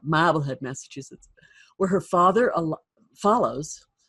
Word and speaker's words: Marblehead: and moves to Marblehead you have to say it like that model had Massachusetts where her father